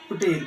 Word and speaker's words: होटल: Hypothesis, if it would be very expensive to stay in होटल, हाँ, इन होटल, होटल इसको बोलते हैं, एच इसका साइलेंट रहता है।